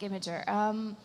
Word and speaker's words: Imgur: How do you say it? I say it Imgur on Bosnian, but it's like Imager.